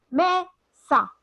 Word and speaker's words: mesa: Por ejemplo, si yo digo mesa, mesa, ¿dónde está la mayor fuerza de voz? ¿Me? Me.